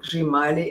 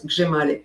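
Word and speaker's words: Hřímalý: Basically, it's like an improved Hrshimali. And Hrshimali or Grimali, as it's pronounced, it's spelled H-R-I-M-A-L-Y. know, the chrimali, I think it's sometimes called in English, but it's gzhimali.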